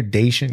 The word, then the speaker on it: Daichendt: Cause if you hear Daichendt, you're like D A Y. No. D A I C H E N D T.